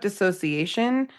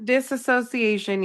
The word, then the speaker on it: dissociation: We talk about dissociation. It's not disassociation. You heard it here. Please say it right. Dissociation.